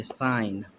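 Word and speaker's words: sign: है जी के बाद जी के बाद एन आता है तो जी साइलेंट होता है क्या होता है साइलेंट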